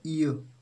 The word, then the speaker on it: heir: ही इज ए, इसको friends H यहाँ पे साइलेंट होगा, इसका प्रोनाउंसिएशन होता है ईयर, ईयर, ईयर, ईयर, EUH, ईयर टू the throne.